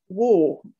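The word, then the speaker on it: Warre: War, and it's spelled W-A-R-R-E.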